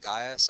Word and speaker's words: Gai: When I call on Charles, I don't call him Gaius, I call him Gai, okay, with a long I vocative singular ending.